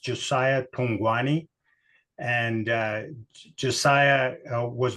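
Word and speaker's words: Josia Thugwane: And Josiah, sweet little man that he is, his name is pronounced Josia Thungwane.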